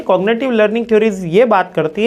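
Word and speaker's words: cognitive: ना कॉग्निटिव learning theory इसमें कभी-कभी मैंने जी भी साइलेंट देखा कभी एन भी साइलेंट सुना है तो कॉग्निटिव ही बोल दो अपने तो कॉग्निटिव लर्निंग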